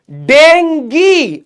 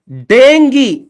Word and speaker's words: dengue: देखो अंग्रेजी भाषा के, देखो DENGUE, इसकी प्रोनाउंसिएशन क्या होगी, डेंगी। अच्छा, डेंगी, तो TONGUE क्या होगी, उस हिसाब से क्या होना चाहिए, टंगी, डेंगी।